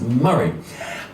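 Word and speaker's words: Moray: spelled m o r a why but it's pronounced maray um he's a musician by the way that's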